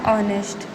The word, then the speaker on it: honest: ये देखिए यहाँ पर साउंड है, फर्स्ट वर्ड है एच, लेकिन एच साइलेंट रहेगा तो वोवेल साउंड आएगा ऑनेस्ट.